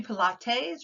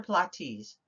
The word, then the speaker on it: Pilates: big and jim's pilates pilates could be pilates or plotties pilates pilates is what a lot of people say in the united states pilates is a type